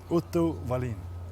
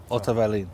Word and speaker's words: Otto Wallin: Otto Wallin. Wallin. Yeah. Otto Wallin. Yeah. That's perfect. In Swedish, you have the same pronunciation for W's and V's. So, Otto Wallin.